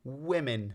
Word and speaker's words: women: of the fact that this word was once pronounced as we man in the plural because while we have one woman we have two women so we can still hear the I sound that is still a relic from the time when